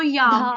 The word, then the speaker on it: याम्य: धार याम्य मोजसा। गाओ। धारयम्यः मोजसा। य के आगे आ की मात्रा है, याम्य।